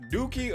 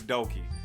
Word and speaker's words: Doki: to play this uh is it pronounced dookie or doki i know it's doki there's only one oh it's not dookie doki doki uh literature